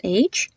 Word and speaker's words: Krish: Another example is in the name Krish. So Krish is spelled as Krish, and the I has a short I sound to it.